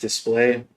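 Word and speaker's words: Dspiae: Um, and then I found these markers from this company, which is pronounced Display.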